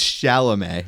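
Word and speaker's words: Chalamet: How do you say it again? It's shalom. Shalom.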